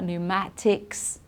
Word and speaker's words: pneumatics: psychology psychiatrist pseudo and then PN it's just n okay pneumonia pneumatics okay we don't pronounce the P there at all so keep that